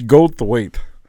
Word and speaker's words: Goldthwait: It's Goldthwait.